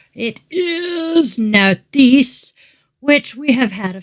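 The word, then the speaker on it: Nauthiz: And the general info on this one is the divinity is schooled, N as in now, and it says, pronounce the rune, Nautis.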